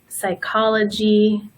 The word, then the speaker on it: psychology: just like in Spanish we also have the silent P for the words that come from when pneumonia psychology and pterodactyl the next